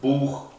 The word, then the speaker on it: Buch: En el resto de los casos se pronuncia como una J, como en los casos de las palabras Buch o Machen. En ese caso sí se pronuncia como una J bien marcada, no como la H que sería Machen. Decimos Machen, no decimos Buch, decimos Buch, bien marcado como una J.